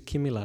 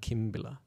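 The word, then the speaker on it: Kimila: And I always thought it was Kimbila but actually I looked at Bali recently and actually it's spelled Kimmila. So I think it's Kimmila not Kimbila.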